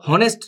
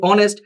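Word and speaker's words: honest: এখানে বলে যে এটা তো আমরা জানি এটা তো হনেস্ট না, এটা উচ্চারণ কি? অনেস্ট।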